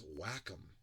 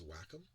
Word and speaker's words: Wacom: So for years I called it Wacom, and it's Wacom. I think it's Wacom. I've been saying it wrong. I know it's not Wacom. I know that part.